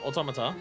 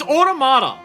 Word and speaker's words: Automata: ] who keep pronouncing the game near automat you are are like getting into me it's automata stop saying automat it's automata the game says automata it's not automa it's automata the